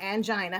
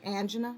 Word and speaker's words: angina: I might say angina, you might say angina. Neither one of us are incorrect, as long as you know what you're talking about.